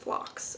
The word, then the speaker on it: phlox: this color is I was right it is pronounced flocks okay fun fact this will be my flocks